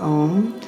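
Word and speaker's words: ॐ: So we'll close with the, um, one syllable mantra for the crown chakra by toning om for that is it's one syllable Sanskrit mantra om.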